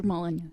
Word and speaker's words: Molyneux: Yes, Peter Molyneux.